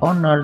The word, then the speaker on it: honor: Di sini kata honor dan kata hour dibunyikan seperti huruf O atau A, ya, tidak diucapkan huruf H.